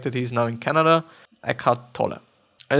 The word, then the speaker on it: Eckhart Tolle: I assume that Eckhart Tolle is pronounced Germanly. Yeah. Is a spiritual teacher. He is German-born resistant of Canada. So it's gonna be Eckhart Tolle.